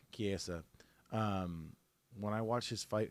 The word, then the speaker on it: Chiesa: Chiesa, ever since when I watched the Chiesa fight when he fought Chiesa. Kevin. Oh, sorry, I keep saying it wrong. Chiesa.